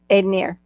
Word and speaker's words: Ednir: Aidenier. Like Aidenier. pioneer. Aidenier. Aid. Aidenier. Aidenier. Aidenier. Aidenier. Aidenier. Ooh. Yep. Aidenier. Like a pioneer. Aidonier, pioneer. Yeah, pioneer, Aidenier.